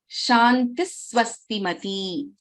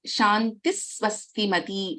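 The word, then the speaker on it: शान्तिः स्वस्तिमती: So we do not pronounce the complete visarga here.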